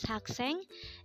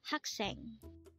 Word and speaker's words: 학생: hak sang again our virtue today is hak sang and this is simply the Korean term for a student again it's hakseng how do you write haksang in Hangul it